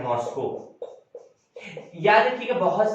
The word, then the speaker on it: मॉस्को: उसके बाद रूस की मेन, उसकी जो कैपिटल है मॉस्को। याद रखिएगा, बहुत से लोग मॉस्को को मास्को कहते हैं, तो वो मास्को नहीं मॉस्को होता है।